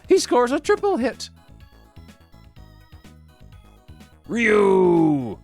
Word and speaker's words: Ryu: scores a triple hit Ryu or back in these days we pronounced it rayu rayu was born in